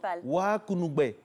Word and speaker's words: Wakunugbe: Les amis de San Pedro présentent Wakunugbe, la cabosse qui parle. J'aime bien. Ça signifie la chance en langue roumaine. Est-ce qu'elle prononce bien? Parce qu'elle, c'est une blanche. Oui, mais elle prononce très bien Wakunugbe.